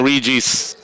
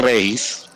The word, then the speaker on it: Regis: You're using the Western pronunciation of the name, of course, Regis. Nahahawa na ako kay ano eh. Kay Bob eh. 1 goal. Of course, the localized pronunciation would be Regis. May naggumagamit ba ng Regis? It's actually Regis. Regis talaga siya.